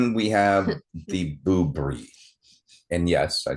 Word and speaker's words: Boobrie: And then we have the Boobrie. And yes, I said boob. But not booby. I said Boobrie. It's b o o b r i e.